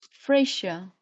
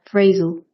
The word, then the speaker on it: phrasal: Maybe pronounce as Fraser. Fraser. Phrasal. Yeah. A is pronounced like the Fraser. Phrasal. Phrasal. Phrasal.